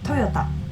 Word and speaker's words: Toyota: maybe you want to remember the correct pronunciation Toyota Toyota it's not too far off I guess I mean